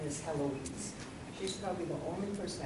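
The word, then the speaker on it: Héloïse: is Helen Alloys an album Lord Eloise that's pronounced Heloise they're we do sometimes see this name in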